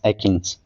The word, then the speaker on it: achenes: Next है D Eakin का पुंज फल यानी इटेरियो ऑफ एकिन्स, स्पेलिंग एकिन की देख लीजिएगा, ACHENES, एकिन्स, ठीक है। यहाँ पे एच साइलेंट होता है।